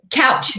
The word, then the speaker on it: Kautsch: Couch, just like you sit on.